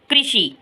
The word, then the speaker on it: कृषि: ऋ की मात्रा के धृत त्रिण कृष गृह मृग घृणा वृथा कृपा कृषि कृषि इसको बोलेंगे कृषि ठीक है इ का उच्चारण इसमें करेंगे कृषि सृष्टि सृष्टि अमृत